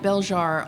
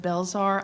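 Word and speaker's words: Belzhar: that you will see my novel is called bjar although a lot of people pronounce it belar I'll answer to anything I'll answer to Anna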